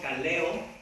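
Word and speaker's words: καλέω: Llamado, el término griego kaleo, así con K, kaleo, le pone acento en la E, kaleo, llamado, del griego kaleo, y significa un llamar propiamente en voz alta, ser invitado.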